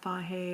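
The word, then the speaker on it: Fage: I've heard it pronounced a lot of different things. I'm just going with the pronunciation of someone who told me they were familiar with Greek. Anyway, Faye is, I think, the way they pronounce it.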